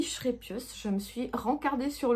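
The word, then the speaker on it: Scheepjes: Et j'ai pris une pelote de la marque Schrepius, parce que ça se dit Schrepius.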